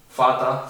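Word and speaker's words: Vater: Tenemos fata, se parece a father, vasa, se parece a water, significa agua.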